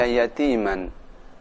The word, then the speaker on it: يَتِيمًا: Perhatikan cara membaca yatiman. Tanwin bertemu dengan fa atau nun mati bertemu dengan fa, cara membacanya huruf fa sedikit kelihatan.